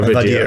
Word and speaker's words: Vader: Oh, Vadir.